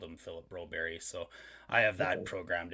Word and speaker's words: Broberg: gonna have expectations for call broberg bro berry because that's what the call to hockey does and they say that's how his name is pronounced and then woodcroft in